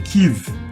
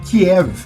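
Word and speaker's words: Kyiv: lá aí umas técnicas tô falando tive porque essa é a pronúncia correta do nome da cidade O melhor é a pronúncia mais próximo ocidental possível do nome da cidade o que que acontece Kiev Como tem muita gente falando é a pronúncia russa o nome da cidade e é uma coisa absolutamente injusta você usar o nome Russo da cidade justamente quando o rosto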